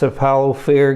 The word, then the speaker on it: Cephalofair: called cEPAL ofir's games I always say that name wrong so it's Apollo fair games that's right I said it right yay so this game